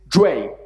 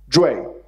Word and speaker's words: jue: Well, the pronunciation of this syllable is jue. Jue. And it's actually retroflex. So it's more correctly would be jue. With the tongue retroflected.